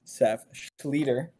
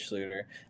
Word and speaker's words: Seph Schlueter: of your name yeah proper pronunciation is Seth Scher looks like schlutter and many people like think it's schlutter I've heard it Bush it really badly like sketer or um she like